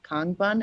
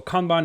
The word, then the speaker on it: Kanban: I would love it if it was displayed in the Kanban. Am I pronouncing that right?